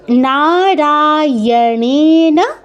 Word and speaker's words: নারায়ণেন: তারপর নারায়ণনা। নাতে রাতে দীর্ঘ। তারপর অনেন বলবেন না ইনা নারায়ণেনা মূর্ধন্যর উচ্চারণটা প্রথমেই আসবে না অনেক প্র্যাকটিস করতে হবে